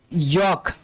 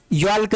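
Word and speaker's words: yolk: यॉक। यॉल्क नहीं पढ़ेंगे, इसको पढ़ेंगे यॉक।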